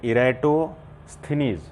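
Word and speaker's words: Eratosthenes: Father of geography अगर आप देखें इसमें इराटोस्थेनीज, इराटोस्थेनीज, ये वर्ड को प्रोनाउंस कैसे करेंगे इसके लिए मैंने थोड़ा सा एक रूल बनाया, ध्यान से देखेंगे इसमें। इराटो लेंगे, इराटोस्थेनीज, ये फादर ऑफ जियोग्राफी है।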